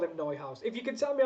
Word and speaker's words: Neuhaus: And Tom says, hope you don't mind me correcting, Kate, it's pronounced Neuhaus. Sorry, really? Florian Neuhaus. That makes sense. I mean, I'm still going to call him Newhouse.